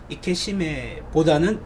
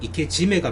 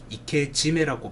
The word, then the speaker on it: 이케지메: 그 이케지메, 이케시메, 신케이지메 정확하게 용어를 조금 정리해 보면 이케시메보다는 이케지메가 맞는 말입니다. 이케루와 시메루, 이케루 살리다, 살아있다. 그 다음에 시메루 마감한다. 그래서 살아있는 거를 마감한다 해가지고 두 개의 동사가 붙은 이케시메지만 연음화에 의해서 이케지메라고 발음을 하는 게 정확한 표현인 것 같고요.